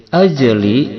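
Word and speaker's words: أَجْلِ: Min ajli, ajli jim sukun di tengah kalimat ini hukumnya cara bacanya dikolkolahkan, dipantulkan.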